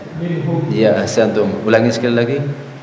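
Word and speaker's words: مِنْهُمْ: Kalau bacaan izhar itu harus dibaca apa? jelas tanpa ditahan ya. Ya, berarti bacanya harusnya minhum.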